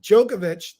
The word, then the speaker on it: Djokovic: Well, we move on to another great tournament, the Roland Garros, the French Open, and Novak, and pronounce it Djokovic. Novak Djokovic, 36 years old, made history for winning his